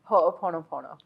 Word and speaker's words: Ho'oponopono: So tell us about Ho'oponopono.